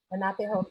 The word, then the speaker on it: Lenape: And I want to see if I'm pronouncing this correctly. Born in the part of, is it Lenape territory? Lenape, yeah, the Lenape territory.